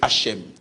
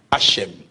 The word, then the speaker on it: Hashem: Le terme c'est Hchem. D'autres préfèrent de dire Hashem.